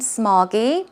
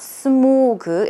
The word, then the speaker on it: smog: correctly here it is as I mentioned it's not smoo good its smog smog aw that's where you drop your jaw toe it oh I